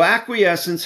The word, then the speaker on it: acquiescence: sentence structure contracts so acquiescence has four syllables AC q u i